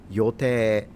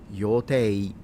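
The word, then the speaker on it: Yōtei: It's the name of a mountain in Japan, specifically in Hokkaido, and you can pronounce it Yote or Yotei for those.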